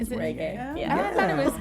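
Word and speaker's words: Regé-Jean: It's spelled R-E-G, but it's pronounced Is it Reggae. Yeah. I thought it was Roger Jean.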